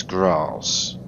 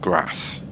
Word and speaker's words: Graz: It is Graz, not Grass. I'm not northern, so I presume it's Graz and not Grass.